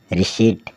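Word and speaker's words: receipt: झूठा आर ई सी ई आई पी टी रिट रिट का अर्थ होता है रसीद फिर हम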